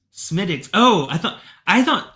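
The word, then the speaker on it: Smithwick's: That W is silent.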